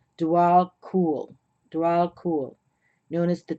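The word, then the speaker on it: Djwal Khul: About pronounced Dwal Kul.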